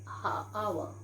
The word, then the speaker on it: hour: Okay, yeah, then I met him an hour ago. We never say I met him an hour ago. We say hour. H is silent here.